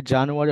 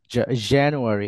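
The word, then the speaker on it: January: চারটা পড়েন everyone please এটা সরাসরি জানুয়ারি হবে না জানুয়ারি এই যে এ সাউন্ড এখানে নট জা খেয়াল রাখবেন এই যে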